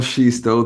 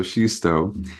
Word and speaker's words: Xisto: So, yes, my name is Pastor Shisto. The X throws everyone off, and it's okay. It's pronounced she, like the pronoun she, and then stow, like stow those bags away. So, Shisto.